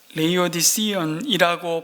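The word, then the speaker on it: Laodicean: 그래서 영어로 영어 단어 하나를 찾아왔는데요, 레이오디시언이라고 발음되는, 우리 발음하고는 좀 다르죠. 라오디게아 같은 이 단어가 형용사로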